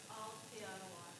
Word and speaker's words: Aotearoa: So you've got to slow it down and say every syllable, so it's Aotearoa.